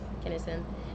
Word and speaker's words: Kinison: Kinison.